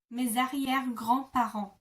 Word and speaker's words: mes arrière-grands-parents: Because mes ends with an S and arrière begins with an A, you kind of glue the two together, and the S becomes a Z kind of sound.